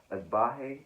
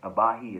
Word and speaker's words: Agbaji: Then you have at 17 Ochai Agbaji, if you will, if I'm pronouncing that way. Abahi, excuse me.